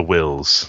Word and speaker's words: Whills: He's a guardian of the wills. Guardian of the Wills, and that's spelled WHILLS.